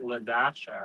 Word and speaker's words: Ladasha: So it's Ladasha. It's Ladasha. You pronounce the dash.